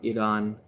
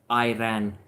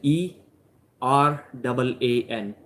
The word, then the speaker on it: Iran: My roommates from Iran. Yeah, once again, a lesson for the North Americans. It's not Iran, it's Iran. As you would pronounce it, ERAAN. Pronounce it that way.